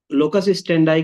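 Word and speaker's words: locus standi: Judicial लोकस स्टेंडी। लोकस स्टेंडी का मतलब पता है किसी को? लोकस स्टेंडी, स्टैंडाई प्रोनाउंस होता है। लोकस स्टैंडाई का मतलब यह है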